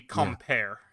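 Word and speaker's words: compère: It would be compare in French, by the way.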